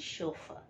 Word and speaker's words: chauffeur: So the two English words derived from the French language and commonly used by one and all is ballet and chauffeur.